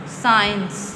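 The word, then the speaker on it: science: जब भी एस से पहले सी होगा तो इसका एस साइलेंट होगा। जैसे सीन Saint Saint साइंस scissors scissors.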